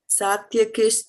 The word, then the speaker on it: sātyakiś: Kish as in kishmish.